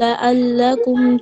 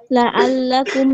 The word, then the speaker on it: لعل: ثم بعثناكم من بعد موتكم لعلكم تشكرون ঠিক আছে, কিন্তু এখানে লা, লা থেকে পড়েন তো দেখি। لعلكم تشكرون আইনের উচ্চারণটা আরেকটু ইয়া করেন।